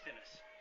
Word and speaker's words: Thinnes: Is it Dines or Thinnes? Thinnes. It is? Yeah. I've been saying it wrong the whole time?